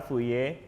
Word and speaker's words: Fourier: Jadi at least teman-teman bisa enggak jelasin apa sih deret Fuye itu? Enggak nyambung. Fuye series. En ini dibacanya Fuye meskipun tulisannya fir karena kalau enggak salah dia orang Prancis deh. Makanya dibacanya fuye.